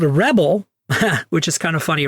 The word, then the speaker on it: Rebble: there's this group called Rebel which is kind of funny right Rebels Pebble Rebel uh it's spelled like Pebble with an R Rebel and this group